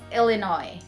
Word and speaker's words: Illinois: Not Illinois, okay? There's a silent S, so it's Illinois.